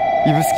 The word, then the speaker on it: 指宿: 路線がですねこれ指に宿と書いて指宿と呼びます指宿枕崎線の